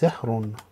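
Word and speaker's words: زهر: Next one is za with the fatha is za, ha with the sukun is zah, ra with the dhammatain is zahrun, which is flower.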